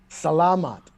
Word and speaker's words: salamat: when I speak Tagalog, but it sounds exactly as it reads. Okay. So don't try and miscue anything and try and overpronunciate.